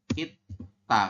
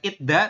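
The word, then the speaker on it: 있다: Itta kayak gini. Bukan itda tapi itta. Nanti berubah bunyi digetnya itu jadi sang diget.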